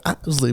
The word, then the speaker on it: Isley: The Isley brothers.